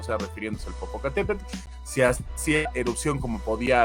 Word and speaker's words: Popocatépetl: Pero está bien chido porque la pronunciación es con el o sea, con la TL, y eso yo creo que a un gringo le da de arrancar las pestañas poder hacerlo, ¿no?